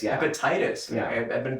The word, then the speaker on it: Epictetus: Is that how you Epictetus, yeah. Epictetus. Yeah. I've been pronouncing it wrong the whole time.